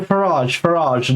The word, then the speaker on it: Farage: Possibly it might be Farage as in Farrier or something like that.